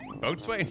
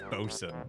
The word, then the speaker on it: boatswain: Boatswain? No, that's bosun.